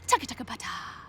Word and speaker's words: TCTHTBT: Capital T, hashtag TBT, throwback today, or for short, TCTHTBT, bracket TBT, pronounced taka-taka-pata.